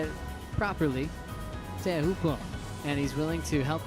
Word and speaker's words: Teahupo'o: I talked to Michel Perez about it for a while, and he was like, yep, let's try to say it properly, Teahupo'o.